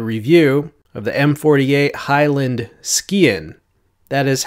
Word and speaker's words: sgian: knives with a review of the M48 Highland skiin that is how I've been told to pronounce it the M48 line a pretty popular